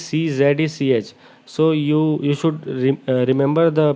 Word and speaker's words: Czech: Here you should note that the spelling of Czech is CZECH.